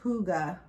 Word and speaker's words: hygge: name you see it it's actually pronounced hygge h-o-o-g-a-h with right what does